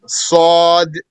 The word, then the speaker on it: ص: Sod is an elevated letter. That means the tongue goes up. In which the tongue adheres to the top of the mouth.